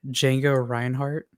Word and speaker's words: Django Reinhardt: So the guitarist we saw earlier was modeled after a famous Belgian guitarist named, I'm messing this up horribly, Django Reinhardt. That's exactly how you pronounce that.